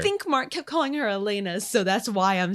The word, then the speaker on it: Alana: people wrote off elena it sounds so weird to call her elena when i think it's spelled a-l-a-n-a yeah to me that's alana but they kept i'm